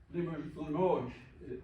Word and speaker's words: Limoges: And so here's Limoges is how you say it.